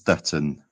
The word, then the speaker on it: Stöten: Is it Stutton? It's no sh at the front. It's just Stutton. Stutton.